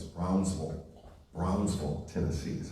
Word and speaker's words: Brownsville: She would tell me that I was always pronouncing it wrong. It's Brownsville.